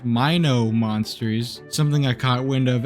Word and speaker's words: Mino Monsters: behind mono monsters shutdown and yes it is pronounced Mino monsters something I caught wind of after my first